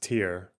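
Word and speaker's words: Tyre: It's pronounced tier. Well, I'm white, so I'm calling it tire because it's pronounced Okay.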